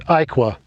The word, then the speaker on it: Iaqua: It's Iaqua is the proper pronunciation, and it's Yager.